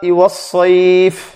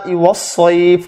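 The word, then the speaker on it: وَالصَّيْفِ: উচ্চারণটা এভাবে হবে সীতা ওয়াস সাইফ ওয়াস সাইফ। আর ওয়াস সাইফ এই জন্য বলা হচ্ছে সাইফ যে এখানে সিন না বরং এখানে শব্দটা সদ, ওয়াস সাইফ ওয়াস সাইফ,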